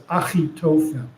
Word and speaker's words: Achitophel: But actually in Hebrew, we pronounce Achitophel as Achitophel.